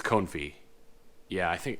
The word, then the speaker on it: confit: I had, I can't remember if you pronounce it Cown or Cone, but it's duck confit. And it was I think it's confit.